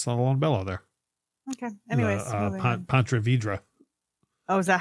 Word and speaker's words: Ponte Vedra: Anyways, Ponte Vedra.